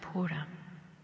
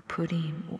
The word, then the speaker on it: Purim: the Jewish Feast of Purim or Pudim, however it's pronounced, depending on where you are from, well, what it's all about.